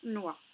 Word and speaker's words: noix: noir navale d'accord aulnoye vous remarqué ici que le x men ne se prononce pas d'accord maman a préparé